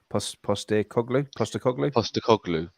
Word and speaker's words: Postecoglou: I'm going to try and pronounce it like you did just now. Postecoglou.